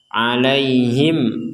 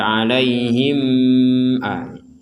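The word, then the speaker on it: عليهم: kita lanjutkan sini ada mim sukun bertemu dengan huruf hamzah maka harus dibaca jelas alaihim Aa jadi jangan dibaca alaihim alai perhatikan e prinsip membaca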